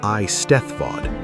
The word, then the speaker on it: Eisteddfod: It survived in the Eisteddfod, the annual festival of poetry, music, and storytelling, pronounced roughly eye stethvod, that traces its roots to a medieval bardic competition held by Lord Rhys in 1176 at Cardigan Castle.